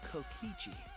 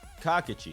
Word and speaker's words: Kokichi: rat that would be kokichi kakichi you're pronouncing it wrong pads gotta catch em